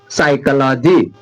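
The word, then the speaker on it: psychology: एस से पहले पी है तो साइकोलॉजी।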